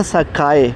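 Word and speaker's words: 栄: नाम सुना था सकाए, इसको मैंने इंग्लिश में प्रोनाउंस किया था। मैंने समझा था कि शायद ये इंग्लिश वर्ड स्काई लाइक आसमान की तरह है और इसको ये प्रोनाउंस डिफरेंट कर रहे हैं, सकाए, और लिख डिफरेंट रहे हैं।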